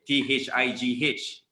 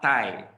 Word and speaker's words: thigh: is thigh it's not thai thailand even thailand thailand you know you know why because th sound only exists in english so kita tend to replace the th sound with d sound the sound sound that